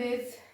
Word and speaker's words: Isle: name of our lesson is the lake Isle of nree the lake Isle of nree this word spellings are i s l e and we'll pronounce it as I of it is a